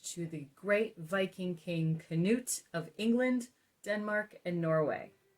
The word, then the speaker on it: Canute: The first is that I can claim an ancient lineage to the great Viking king Canute of England, Denmark, and Norway.